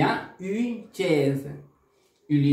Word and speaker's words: une: Una en francés se pronuncia une. Se dice con la boca en forma de besito, en forma de silbido, y vas a pronunciar la vocal I. U. Une. Une. Es un sonido nasal.